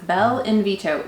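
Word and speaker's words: Bell'Invito: And it's spelled just like it sounds, Bel Invito, which is the Italian word for beautiful invitation.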